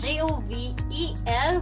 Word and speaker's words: Jovel: So I am 𝐿𝐵𝐵𝐵𝐵𝐵𝐵𝐵𝐵𝐵𝐵𝐵𝐵𝐵 My name is spelled as JOVEL without another L and E at the end